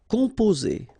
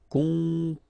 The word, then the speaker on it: composer: Okay, O and M together, after that a consonant, so it's the nasal on. Composer. Okay, you pronounce it Z here because you've got two vowels and only one S.